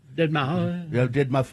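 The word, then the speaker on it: deadmau5: Is it dead mouse? Is that how you Dead Mouse? Dead Miley. Dead. Is slated to perform at Is that how do you say it, Katie? It's dead mouse. Is it just dead mouse?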